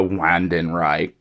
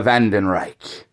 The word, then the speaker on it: Wandenreich: Even the way they pronounce the Vandenreich in general, the Wandenreich, like, I hate it. They don't put much of a, like I said, a German accent in it whatsoever. Like, it should be pronounced the Vandenreich.